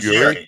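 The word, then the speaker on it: Yerry: Robert Yuri. Yeah. Is that how you pronounce It? You sounds like you're saying Yuri. It's ye e r r y. It's pronounced Jerry. It's Jerry. Yuri. Like Jerry or Terry.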